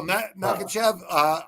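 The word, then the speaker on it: Makhachev: Oh, Makachev, Islam.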